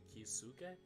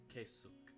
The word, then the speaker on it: Keisuke: It's like Kisuke? Keisuke. Oh, Keisuke. Okay, that was right.